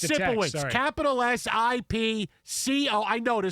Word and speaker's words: Sipowicz: It's Sipowicz. Capital S-I-P-C-O. I know the C doesn't make any sense. Sipkowitz, but it's just Sipowicz.